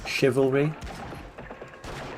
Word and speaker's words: chivalry: French words that were taken recently are pronounced sh. Chivalry, and so on.